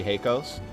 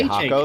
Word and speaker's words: Hakos: deriving from the O, so it would be Heikos. Obviously, most people Well, would it's say Hakos, H-A-K-O-S.